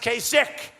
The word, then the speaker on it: Kasich: you pronounce his name kasik it's I every time I see it I say kich but it's pronounced kich so I'm doing a